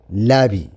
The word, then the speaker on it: lobby: ሎቢ we pronounce it ላቢ ከነድምጾ ከለና ግን ሎቢ ደይኮንና ንብሎ ላቢ ኢልና ነድምጾ ማለት እዩ። ስለዚ ከነንብብ ከለና we